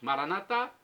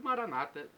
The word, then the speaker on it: Maranatá: Maranatá, com a tônica na última sílaba e a pronúncia católica, e Maranata dos protestantes.